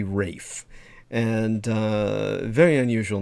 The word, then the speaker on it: Ralph: on the spelling, but his first name is definitely Rafe, and very unusual name,